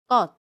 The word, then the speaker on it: 것: The bound noun '것' after the adnominal suffix '을/ㄹ' is pronounced as [껃].